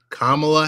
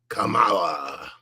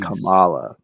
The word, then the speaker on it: Kamala: before the first debate, we are going to have to ensure you pronounce Kamala Harris versus, in my Trump voice, Kamala. It's just, geez. Kamala.